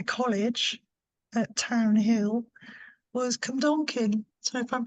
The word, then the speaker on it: Cwmdonkin: up to my college at Town Hill, was Cwmdonkin. So if I'm pronouncing that right, Cwmdonkin Wow, Park.